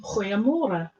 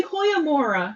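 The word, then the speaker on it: goeiemôre: which is good morning now I say hoyamora which is how you say it in Afrikaans with us and she's going over here we don't we're lazy we don't say like that just say hoyomora that's enough that's yeah it's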